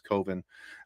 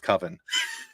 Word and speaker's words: coven: came into the witches Coen um and we see them talking uh yes I said it wrong on purpose I know it's coven I just like watching